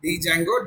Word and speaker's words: Django: To create a project, there is one command, that is Django, that is Django, D is silent, minus admin start project, followed by the name of the project in this case.